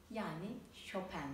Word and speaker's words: Chopin: Yes...Frédéric Chopin Before I get into his biography, how do we pronounce Chopin's name? As 'Shoh-pan'... There are some pronounciating as "Shoh-pen", that's... not it.